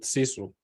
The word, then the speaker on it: sisu: And I think that it's a very Finnish thing that you showed here, because in Finland we have this thing called sisu, which is spelled like SISU.